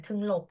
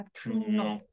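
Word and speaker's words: 등록: กฎ การ เปลี่ยน เสียง ไม่ อ่าน ทึง หลก นะ อ่าน ว่า ทึง หนก นะ คะ ชูมิ ทึง หนก จึง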